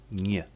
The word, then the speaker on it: ń: This letter is pronounced in Polish as nie, which sounds like the N and Y in the word canyon or the N and I in onion.